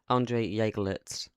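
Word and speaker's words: Andrée Jeglertz: Manchester City, because I'm not the best at pronunciating things. Andre Jagelitz, yeah, so that's how you pronounce it.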